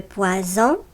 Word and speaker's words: poison: Lorsque tu lis les mots qui sont à gauche dans le tableau, la lettre S dans ces mots se prononce Z. Lis avec moi les mots qui sont dans les encadrés. Le poison, le poisson.